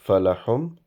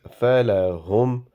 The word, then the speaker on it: فَلَهُمْ: So ha is a heavy ha. It will not be pronounced falahum. It is falahum. And meme's sound will not be prolongated because wherever there is jazm on meme, you do not prolongate that sound.